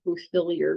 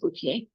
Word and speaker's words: Bouthillier: Looks like Bouthillier, but it's pronounced Bouthillier.